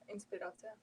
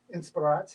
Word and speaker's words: inspiracja: Inspiracja. Inspiracja.